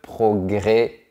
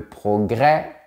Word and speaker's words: progrès: comme ici à Toulouse quand le mot se termine pas eux accent grave S et bien on ne dit pas est on dit et par exemple on va dire le progrès le procès le Congrès après mais dans les autres régions ou à Paris par exemple on va bien respecter l'accent grave et on va dire le progrès le procès le Congrès et après et on va faire